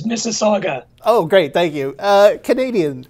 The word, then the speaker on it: Mississauga: Michael Kaler from the University of Toronto, and then another word that I don't know how to pronounce. Welcome, Dr. Kaler. It's Mississauga.